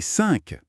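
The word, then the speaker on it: cinq: Un autre son nasal. 1. C'est un peu comme pour 1, mais différent. Plus ouvert, peut-être? Écoute. 5. 5. 5. Oui, et le Q final? Il se prononce Q.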